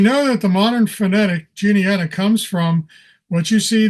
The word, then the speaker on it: Juniata: Today we use the hard J sound, but originally it would have been Juniata.